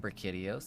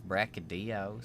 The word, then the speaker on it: Brachydios: It's not Brachydios, it's Brachydios.